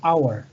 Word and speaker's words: hour: Entonces, como ven, ya la H no es como una J, sino que se está escuchando la H como si fuese muda, como está silenciada la H, y empezamos a utilizar la pronunciación de la siguiente vocal, que en este caso sería la O. Entonces, por esa razón es que tenemos que utilizar AN antes de esta palabra hour, porque la pronunciación, el sonido es de una vocal, hour, ¿ok?